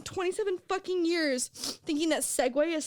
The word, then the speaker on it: segue: Both Segway and Segway share a pronunciation, and the spelling S-E-G-W-A-Y looks more logical to us than fucking Segu.